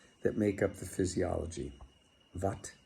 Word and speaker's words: Vata: Vat, Pit, and Kapha. Or Vata, Pitta, and Kapha is the way that it looks like it should be pronounced.